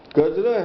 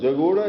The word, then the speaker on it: Kajra: now because it up kajra has had several mispronunciations by several Tibetans tilopa was a contemporary of uh atisa he whom he he was born in jagoda jagoda is again a mispronunciation of kajra and he lived in